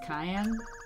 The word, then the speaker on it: Cayenne: say your name is cayenne yes it's pronounced like the pepper I'm alive that's a